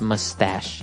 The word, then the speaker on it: mustache: pronounce it because it's m u s t a c h e so there's no really sh sound like sh but you pronounce it mustache mustache yeah so that's